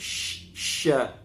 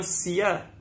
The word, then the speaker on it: ش: Senai, sembur ke sya. Jangan sia.